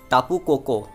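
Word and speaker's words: Tapu Koko: का टापू कोको है, टापू कोको हाँ ये प्रोनाउंसिएशन है इसका, मैंने काफ़ी बार प्रोनाउंसिएशन में गलती कर दी होगी, तो इसके लिए मैं माफ़ी चाहता हूँ।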